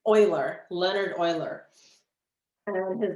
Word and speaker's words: Euler: It's pronounced Euler, not Euler. Very common mistake. Everybody mispronounces this and calls the poor guy Euler. It's Euler, Leonard Euler.